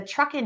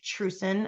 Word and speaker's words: TRUCEN: um this is the fall Gathering of the Truckin Network and for those that are new um Truckin is an acronym not pronounced true sin as I always say a mistake that I